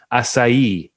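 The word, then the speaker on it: açaí: uh and i only recently learned how to pronounce this word because i work with some brazilian brazilians now acai which is a berry that grows in in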